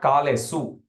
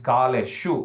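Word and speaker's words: kāleṣu: Again, it's not kalesu, it's kaleshu, because under the S there is a dot.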